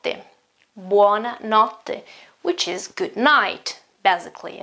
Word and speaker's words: buona notte: one or not them buona notte which is good night basically okay good night wanna not let's think about for a moment think about that pronunciation this TT okay this TT it often happens in